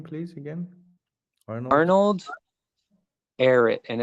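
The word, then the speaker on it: Ehret: cool what was his name please again Arnold air it and it's spelled e-h-r-e-t and he created a rational fasting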